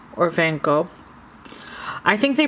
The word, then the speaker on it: Van Gogh: The show is nearly done, so it was kind of like they didn't have any more Van Gogh posters, so I got a different poster.